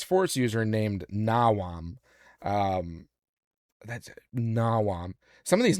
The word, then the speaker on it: Nawam: always thought it was, for the longest time, I thought it was Nawan. Yeah. But when I look at the spelling, it's Nawam with an M, not an N.